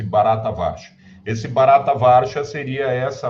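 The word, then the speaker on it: Bharatavarsha: esse eh barata vcha pronuncia-se barata varsha esse barata varsha seria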